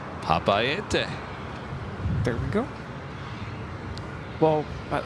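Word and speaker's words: Papeete: And it's Papaete. Papaete. Papaete.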